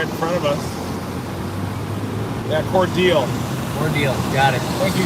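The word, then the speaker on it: Cordele: the smithville store doesn't look as organized it's pronounced core deal or deal cornell or cordial um the radar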